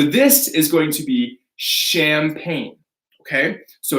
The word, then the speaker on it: champagne: So this is going to be champagne. Okay, so it's not ch, no ch. It's a French word, so we say champagne.